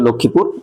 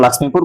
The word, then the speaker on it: লক্ষ্মীপুর: এরপরে তার চেয়ে বড় জায়গা হচ্ছে যে লক্ষ্মীপুর, এই জন্য ইন লক্ষ্মীপুর। যদিও এটা অনেকে উচ্চারণ লাক্ষ্মীপুর বলে, প্রতিবর্ণীকরণের নিয়ম অনুসারে লক্ষ্মীপুর লক্ষ্মীপুরই, লাক্ষ্মীপুর না।